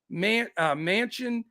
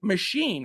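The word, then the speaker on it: Machín: A's lineup is Kemp, Manchin, Murphy, Machine, I should say. It's pronounced Machine, which doesn't make any sense, but it is.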